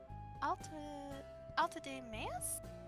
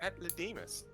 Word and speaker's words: Atlademus: Alta de Meas? Actually, dearie, it's pronounced Atlademus.